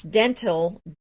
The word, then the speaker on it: dentil: And it's dental, DENTIL, but it actually... Oh, I didn't know that. But it actually refers to the look of teeth, which is DENTAL.